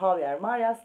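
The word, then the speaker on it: Javier Marías: Şöyle göstereyim ama Javier Marias diye okunuyor ama benim ağzım Javier alışmış olabilir.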